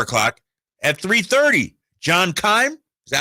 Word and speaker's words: John Keim: At 3:30, John Keim.